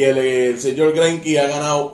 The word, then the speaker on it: Greinke: Se le pronuncia así, Greinke. Eso es así.